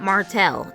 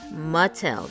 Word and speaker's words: Mattel: Cam, it's not Martell. It's Mattel. There ain't no R in there.